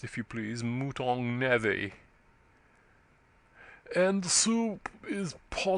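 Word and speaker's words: mouton: lady Crawley M added the butler Gravely pronounced if you please mutong NE and soup is po m al cores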